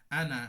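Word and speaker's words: أنا: what a বায়েদা পড়তে হয় কি যাকাত যাকাতা এভাবে আনা এই আলিফটা উচ্চারণ হয় না অসল করে পড়লে কিভাবে পড়ি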